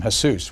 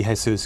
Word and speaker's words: Jesus: or they call him Jesus what what what did he ever he's always everyone although it should be Jesus because that was in recognition of the Mexican half of his family um everyone always pronounced